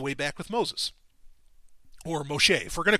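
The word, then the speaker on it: משה: Or Moshe. If we're going to call Jesus Yeshua, we're going to call Moses Moshe, because that's how you say it in Hebrew.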